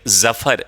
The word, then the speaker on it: Zafar: एंड आई am sure कि आपने ये जो करेक्ट प्रोनाउंसिएशन है, इफ़ you practice जफर, like Zafar, ZAFAR.